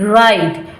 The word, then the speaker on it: write: Simply read right because W is silent.